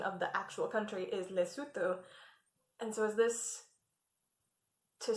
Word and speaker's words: Lesotho: know how to pronounce it because the correct pronunciation of the actual country is lesotho and so is this to sulu or yeah